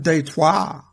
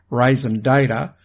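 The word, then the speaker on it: raison d'être: just want to explain the reason detour or as I heard it once pronounced on an American movie Raisin data for this show I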